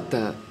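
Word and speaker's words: تاء: Questa è la ta. Si pronuncia come la T nella parola tisana, quindi è simile alla T della nostra lingua italiana.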